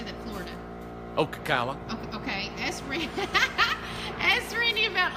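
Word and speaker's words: Ocala: um Jeff Weaver down in U is it okaa how do you say that Florida Okala okay ask ask Randy about off grid on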